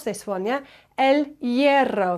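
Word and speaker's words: hierro: La M La M ELO bit of a tricky one to pronounce this one yeah ELO the H at the beginning of the word is silent and then you've got that double r well EO l ero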